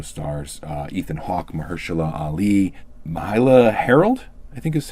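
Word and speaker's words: Myha'la Herrold: It also stars Ethan Hawke, Mahershala Ali, Mahala Harold, I think is how you say her name. Mahala Harold. I'm not 100% sure that's how that's pronounced.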